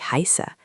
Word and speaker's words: heiße: or sharp S, and it makes a sound like the SS in hiss.